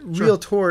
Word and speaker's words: realtor: you got to tell me a story here realtor is a trademark neighbor yes so you have